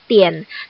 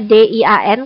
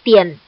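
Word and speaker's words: 点: Yang pertama ini bacanya adalah tian. Jangan gara-gara Hanyu pinginnya D-I-A-N, kamu bacanya dian, bukan dian ya. Bacanya tian, T-I-E-N bacanya tian.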